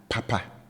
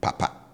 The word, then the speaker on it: papa: papa papa papa so I raised my pitch level on both syllables and accordingly I have you know the high tone marker on both syllables now for the hand fan I bring the tone on both syllables down so low all right so I